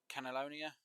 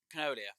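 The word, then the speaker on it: canola: wheat the oats and the cannellonia i i'm probably pronouncing that incorrectly but i really don't care uh but cannolia that's the word see i'll get it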